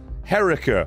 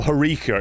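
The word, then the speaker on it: Herika: Herica, I think it is. Or Harika, is actually how you say it.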